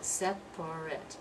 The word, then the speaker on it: separate: what is it well if it's an adjective we're going to pronounce it separate it looks like three syllables but we dropped that second syllable and we pronounce this as if it's I T separate separate but if it's the